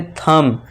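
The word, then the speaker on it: thumb: अब नेक्स्ट देखिए एम के बाद फिर से बी है तो यहां इसे साइलेंट कर देंगे और इसे क्या पढ़ेंगे? थंब।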